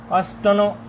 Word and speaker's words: अष्टनो: अष्टनो अविभक्तौ, अष्टन अविभक्तौ, ये नकार में अकार है। अष्टनो, अकार का उच्चारण थोड़ा कर लेंगे।